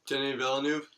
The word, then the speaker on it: Denis Villeneuve: I called Arrival, another Denis, I don't know how to pronounce his name. How do you say his name? Denis Villeneuve.